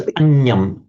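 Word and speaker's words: aññaṃ: It's anyam. Anyam. You're making the reverse error that Shalika made. It was uppanna, but Shalika said uppanya, but this genuinely is anya.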